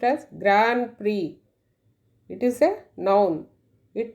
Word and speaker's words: Grand Prix: The word is pronounced as Grand Prix. It is a noun. It means one of a series of important international races for racing cars or motorcycles. Grand Prix.